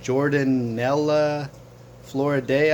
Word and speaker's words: Jordanella floridae: for this fish is uh jordan nella floriday i believe is how you say it i'm not really sure but you'll see this